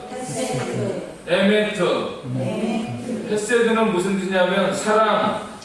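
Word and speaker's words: אמת: 헤세드와 메트라는 말로 나타나고 있는데요 한번 여러분들 히브리어를 발음을 해 보시기 바랍니다 헤세드 헤세 에메트 에메트 헤세드는 무슨 뜻이냐면 사랑 용서 긍휼 선하신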